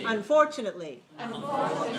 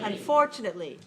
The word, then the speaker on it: unfortunately: how many syllables five unfortunately has five syllables where's the stress two okay all right second syllable stress so four four four